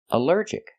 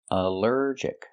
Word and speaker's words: allergic: Allergic is three syllables. Allergic. The stress is on the second syllable. Allergic. Allergic. Here the al is not pronounced all but pronounced uh like in cup and up because it's not stressed.